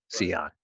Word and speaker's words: Sean: i meet people um i tell them it's pronounced like leon with an s c on yeah yeah so that's